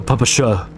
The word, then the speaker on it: PPSh: Or the Papasha. Which is apparently the correct way to say it.